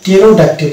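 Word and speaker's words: pterodactyl: সামনে পাবো যেমন এটা হচ্ছে টেরোডে এটা হচ্ছে টেরোডাক্টির এটা পি সামনে থাকছে অন্যভাবে এটা হচ্ছে রিসিভ এখানে পরে উচ্চারণ আসবে না রিসিভ না এটা হবে রিসিভ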